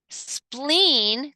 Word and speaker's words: spleen: that collection of fluids we we pronounce spleen two e has that hard E versus that splenomegaly and splenectomy has that more soft e because there's only one e to it pronunciation so so let's